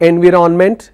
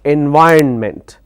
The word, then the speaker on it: environment: make make pronunciation mistake lot of people call this or pronounce this as environment it's not environment it's environment likewise there is another